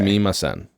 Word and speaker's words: sumimasen: Sumimasen. That's how it's spelled in English, obviously.